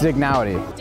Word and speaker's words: Dignowity: It's Dignowity. But we are in the way I believe it is said, which is the Dignowity Hill area.